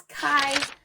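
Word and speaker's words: Khy: And that last brand is Kai by Kylie Kylie Jenner. And it's spelled KH Y.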